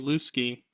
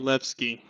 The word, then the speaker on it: Danielewski: as Daniel lusky um I had a feeling that was wrong so I looked it up after that and apparently Daniel levsky it's like the I guess in po the Polish pronunciation of the W is a lot closer to a v well it's your fault